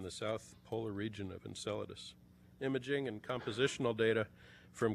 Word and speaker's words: Enceladus: one of those places I recently heard a TV newscaster pronounce it enchiladas our speaker tonight will show you huge ice icy geysers continuously erupting from the south polar region of Enceladus imaging and compositional data